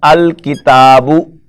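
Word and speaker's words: الكتاب: For example, you add alif lam to this indefinite noun, that is kitabun. Now when you open the bracket and you make a single word, this will become al-kitabu.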